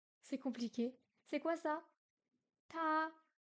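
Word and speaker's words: 她: compliqué c'est quoi ça ta elle se prononce comme il mais le caractère est différent ben oui mais montre-le parce que ok il se prononce pareil mais montre Sing ok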